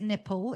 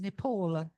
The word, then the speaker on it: Nepal: Paul, please do not pronounce it nipple. It is Nepal.